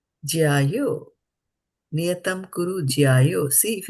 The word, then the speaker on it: jyāyo: So JYA with a bar, you're going to put a lot of pressure in the A, Yeah.